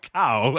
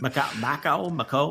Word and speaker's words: Mako: It's not Macau, I don't think, but Mako. This is Mako. It's not great. It wasn't Mako.